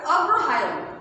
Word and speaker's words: অগ্রহায়ণ: উচ্চারণে কিন্তু ন আসছে, কিন্তু আমাদের বানানটা অবশ্যই খেয়াল রাখতে হবে।